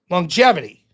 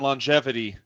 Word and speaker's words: longevity: How many G's are in longevity, Rob? One. Say the word again. Longevity. Why are you pronouncing two G's, Rob? There's only one G in the word, Rob.